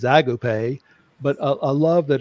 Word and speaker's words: agape: that's you know called Agape or Agape if you're here in the South it's the the actual uh uh way to pronounce the word is agop but a a love